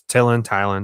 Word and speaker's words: Tylan: Is it Tellin? Is that how you pronounce it? It's Tylan, something like that.